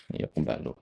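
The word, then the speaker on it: يُقْبَلُ: Tapi kalau antum pilih fathah itu lebih baik daripada kasrah. Karena kasrah enggak mungkin, enggak ada rubar kan ya. Kalau fathah bisa jadi karena objek ya. Yaqbalu alamala gitu kan. Nah, tapi yang tepat di sini adalah dommaah yqbalu.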